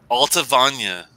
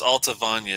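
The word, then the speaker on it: Allt-a-Bhainne: Alta Vanya. It's spelled, it's spelled weird, but it's Alta Vanya. It's A-L-L-T.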